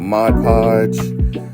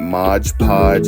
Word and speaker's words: Mod Podge: a little bit of mod podge um it is not Modge Podge it is Mod Podge I get corrected on that all the time cuz I used to say it wrong but we are going